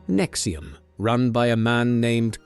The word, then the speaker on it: NXIVM: In the mid 2000s, both became involved with an organization called NXIVM, pronounced Nexium, run by a man named Keith Ranier.